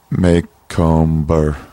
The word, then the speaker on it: Macomber: Yeah, but no one pronounces it that way, did you know? What do they pronounce it? Macomber. Oh, yeah. But that's not the way you pronounce it, but that's the way you spell it. It's Macomber. Yeah, Macomber.